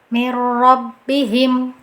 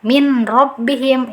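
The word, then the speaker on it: من ربهم: nggak usah pakai guna cara bacanya Yang betul mirrobbihim mirrobbihim nah bacaan yang keliru pakai dengungan seperti ini Nah itu keliru Nah kemudian ada juga yang bacanya di izharkan bikin robbihim mana kita tidak memasukkan ke huruf setelahnya min robbihim itu jelas-jelas keliru ya jadi bacaan yang betul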